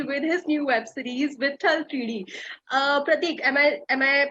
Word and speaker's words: Vitthal Teedi: So, I have Pratik Gandhi with me with his new web series, Vithal 3D. Pratik, am I pronouncing it right?